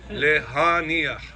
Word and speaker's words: להניח: put in there, lehaniach. Lehaniach. Het, nichaf, het. Deep inside your throat.